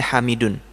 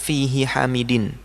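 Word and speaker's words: حَمِيدٌ: Kemudian hamidun dibaca hamidun. Jadi bukan fihi hamidin. Dulu pas kami belajar, kami bacanya fihi hamidin gitu. Dulu kami bilang ke Ustadz fihi hamidin gitu. Ustadznya bilang hamidun.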